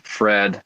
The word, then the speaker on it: Pfred: solo project which is called Fred with a silent p p f r e d because that's like my last name spelled with the silent p and Fred's my middle